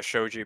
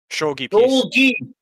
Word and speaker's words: Shogi: That little Japanese thing is actually a shoji piece. Shogi! Yeah, I corrected myself, Withered.